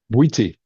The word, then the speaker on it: Bwiti: Synthesizing ancient, how do you how do you pronounce that? Witti.